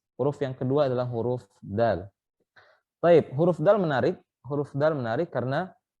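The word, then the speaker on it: د: Adapun dalam bahasa Arab, huruf dal itu keluarnya dari ujung lidah bertemu dengan pangkal gigi seri.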